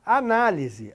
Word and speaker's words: análise: e me envie a análise. Análise, analise. Então vejam que aqui a sílaba tônica é a antepenúltima. Aqui é uma proparoxítona. Análise tem acento, analise não.